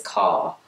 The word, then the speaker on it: Kerr: series was Judith well they were saying it is car in that I thought was Judith Kerr is a car I have no idea